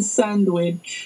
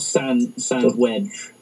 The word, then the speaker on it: sandwich: A cheese and onion sandwich. A cheese and onion sandwich. Sandwich. You got to pronounce it that way. So it's not sand wedge. Sand wedge.